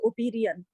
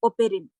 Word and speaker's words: Oparin: OPARIN, it is not Operian, right? So OPARIN, ओपेरिन.